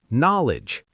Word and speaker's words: knowledge: Also not, Neil, knit, knowledge. All starting with that silent K. The K is just there for decoration. Historical decoration. These words used to have the K pronounced in old English.